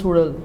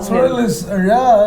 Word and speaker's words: Suzhal: And actually, Brahma was trying to teach people how to pronounce Sudal. So he was trying to, roll the tongue. Sudal is very, very unique, and not every language has got it, no. So I was trying to say Sudal.